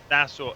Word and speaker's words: Nassau: How do you pronounce? Oh, so yeah, Nassau Community College. Can you say it again so I don't? Nassau, Nassau, Nassau.